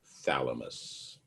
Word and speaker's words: thalamus: Again, pronounced thalamus, your thalamus.